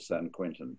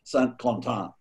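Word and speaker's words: Saint-Quentin: If you live in San Francisco, you think it's called San Quentin, but it's not. It's called Saint Quentin.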